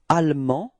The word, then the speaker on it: allemand: And then en, so A-N-D, final D is not pronounced, so it's en, and feminine form is and. Okay, so you can see that the final E in the feminine form only gives you the possibility to pronounce the D, okay?